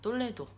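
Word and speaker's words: Toledo: 곳은 스페인의 2000년 코도 인 톨레도 입니다 이동네 발음으로는 똘레도 더 구형 이 영상은 지금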